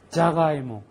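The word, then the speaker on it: ジャガイモ: 자당 자당 자당 자수다이자이자 자가이모 자가이모 혀가 어떻게 돌아가나 잘 보세요이자이자 자부동 자부동 자가이모 자가이모 자부동 할 때의 자는 사에 음인 자지만 그죠 자가이모 할 때는 자입니다 자부동 자부동 자동 자가이모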